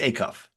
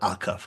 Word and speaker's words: Acuff: you how pronounce it is that Acuff it's Acuff not Aku okay Tyson Acuff um